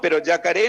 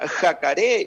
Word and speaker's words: yacaré: Y sin embargo, siempre encuentro personas que me dicen, no, pero yacaré no es cocodrilo, es caimán, pero yacaré no se escribe con J, porque la J suena jacaré, y bueno, un montón de cosas, personas que por ahí demuestran ese interés y cuestionan.